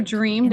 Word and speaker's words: dreamed: do you hear in dreamed, the ed is just adding a d sound.